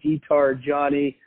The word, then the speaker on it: diTargiani: find me on LinkedIn my name is guitar Johnny the last name is spelled di ta are GI Ani I also